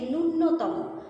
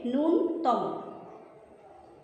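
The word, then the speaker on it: ন্যূনতম: এই বানানটি অত্যন্ত গুরুত্বপূর্ণ আমরা স্বাভাবিক বাংলায় সবাই উচ্চারণ করে থাকি যে নূন্যতম নূন্যতম বলার কারণে আমাদের বানানটি ভুল হয় নূন্যতম লিখলে এরকম লিখতে হয় কিন্তু না শব্দটির মূল উচ্চারণ হচ্ছে নুনতম প্রতিযোগিতা প্রতিযোগিতা বানানে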